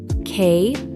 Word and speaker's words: choir: Starts with a K sound, not a CH sound. Pronounced K-W-Y-R.